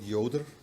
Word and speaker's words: Joder: seems pretty logical that in German we call it Yoder you know my name is Yoder and if you want to pronounce it the same way in English you have to spell it with a why I think that's as